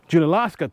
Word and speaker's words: Junaluska: Junaluska, thank you.